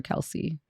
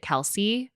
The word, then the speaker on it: Kelce: You told me it was Kels, but like everyone else in the media pronounces it Kelsey. Yeah. And so I think he just goes with Kelsey.